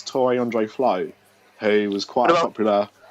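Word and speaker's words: Tore André Flo: speak Norwegian go on to on the Le floor um he that's that's the Norwegian way to pronounce Tory Andre Flo who was quite a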